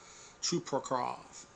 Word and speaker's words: Chuprakov: Now, if you are one to believe like, hey, experience is something, uh, VG has how do you pronounce his last name? Kuprakov, Chuparov, Chuparov, Chuparov, Chuprakov.